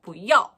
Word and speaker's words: 不要: 不要 마치 산을 타듯이 부 올라가셨다가 要 내려가셔야지 정확한 발음이 돼요.